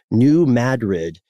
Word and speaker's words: New Madrid: And this is the New Madrid. We pronounced it correctly this time, Matt.